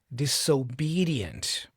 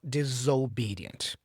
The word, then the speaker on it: disobedient: You have to say disobedient with a with an s sound, not disobedient.